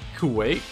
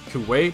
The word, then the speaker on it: Kuwait: they're very strong but i don't know if i'm pronouncing it right uh kuwait or is it for white i think it's kuwait but um yeah k-u-w-a-i-t yeah yes it's five players